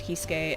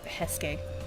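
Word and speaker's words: Heisuke: I didn't think there was any chance that hadn't made Hisuke and Okita feel at least a little guilty, or sorry, Hesuke, I keep pronouncing it wrong, and Okita feel at least a little guilty, but...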